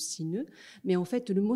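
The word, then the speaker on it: 死ぬ: en japonais on dit Sineu donc ça se prononce Sineu mais en fait le mot Sineu vient de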